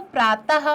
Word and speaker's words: प्रातः: तो प्रातः, तो आप देखिए ह का उच्चारण सुनाई दे रहा है।